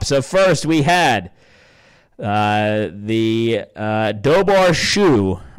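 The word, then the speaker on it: Dobhar-chú: So first we had the Dobar Shu. I think I actually pronounce it Chow, but Dobar Shu, which is spelled DOBHAR-CHU, which is an Irish term for water dog, water hound, or king otter.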